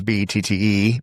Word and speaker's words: Bette: For those of you who don't know, my mother, Bet Reynolds, Bette, but pronounced Bet like Bette Midler.